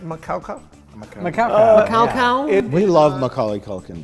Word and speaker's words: Macaulay: And its name is pronounced Macaulay.